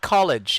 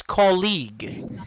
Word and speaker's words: colleague: is almost up actually the first word here is not college it's colleague say colleague yeah connie college is spelled like this this is college it pertains to a school it pertains to a tertiary level of education call a college that's college this one is colleague next one repeat after